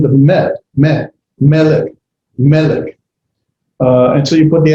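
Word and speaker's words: מֶלֶךְ: That's going to tell me that pronunciation is at the beginning of the word, or the accent is at the beginning of the word. Someone accent the melech.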